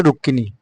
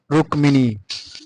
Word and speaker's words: রুক্মিণী: মটা উচ্চারণ হয় না যেমন আমরা বাংলা ভাষায় পলে রুক্কিনি ক উচ্চারণটা হয় মটা উচ্চারণ হয় রুক্কিনি কিন্তু সংস্কৃত ভাষায় হবে রুক্মিণী এখানে আমরা একটু খেয়াল